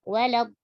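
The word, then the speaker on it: ولا الضالين: Lam yang pertama, di situ memang ada alif mat. Lamnya panjang. Itu kalau kita waqaf. Tapi kalau kita wasol, matnya dibuang. Walad, walad, langsung. Tidak boleh. Walad, walad, walad, walad, langsung. Dan ditipiskan. Tidak boleh walad, walad, walad, langsung tipis ya.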